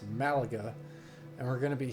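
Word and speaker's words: Málaga: And we're going to be taking off over at LEMG, which is in Spain, and I believe it's pronounced Malaga.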